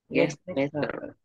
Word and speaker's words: get better: Mình nuốt được chữ T ở đây nhé. Chữ T ở đây mình không cần phải đọc nữa. Mình đọc là get, nhưng mình không cần phải get. Mình đọc là get better luôn ha.